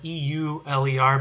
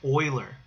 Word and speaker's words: Euler: to use is we're going to look at euler diagrams and i know it's kind of weird the name is spelled e-u-l-e-r but it's pronounced euler it's pronounced euler okay so we're gonna we're